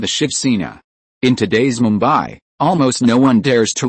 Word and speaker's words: Mumbai: The Moratti pronunciation Mumbai is the orthodox one.